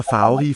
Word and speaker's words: farverige: Pigerne spiser farverige frugter. Pigerne spiser farverige frugter. The V is with not quite closure, not quite contact between teeth and lip.